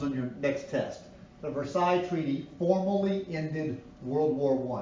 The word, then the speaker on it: Versailles: And I know it's spelled Versailles, but it's pronounced Versailles.